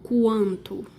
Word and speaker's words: quanto: essas letras são pronunciadas aqui você pronuncia o que e o u Ou seja você pronuncia algo como quanto se você tirar a letra u vai ficar algo como canto fica completamente diferente cara não tem Hi